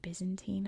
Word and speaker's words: Byzantine: art quick note here in America we say Byzantine I know most other English-speaking countries say bantine or bantine I'm American so I'm going to pronounce it the American why don't come from but